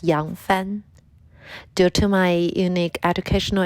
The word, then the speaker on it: Yang Fan: Hi everyone, my name is Fan Yang, and in Chinese, my name is pronounced as Yang Fan.